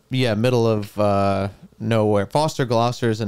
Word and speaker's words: Gloucester: middle of uh nowhere Foster Gloucester is the name of it Foster Gloucester is so funny it Rhymes yeah and I mean